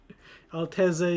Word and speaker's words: Altezza: Honestly, you don't know you but you You don't do the pizza pronunciation. Okay. Altezza it is.